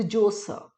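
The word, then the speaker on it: Djoser: है the step pyramid of द जोसर, right, जोसर। सो D silent, the जोसर कह सकते तुसी।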